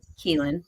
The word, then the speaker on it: Kelien: For anybody that does not know this gentleman, Vince Kelien, did I say that right?